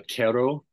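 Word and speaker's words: Q'ero: meet a group of indigenous people called the Quero. This is spelled Q apostrophe ERO.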